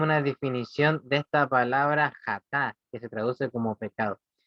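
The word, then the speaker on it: חטא: Y la primera palabra que vamos a estudiar, que la voy a proyectar, es esta, que en hebreo se pronuncia así, jatá, ¿ya?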